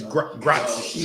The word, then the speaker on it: grazie: It's grazie.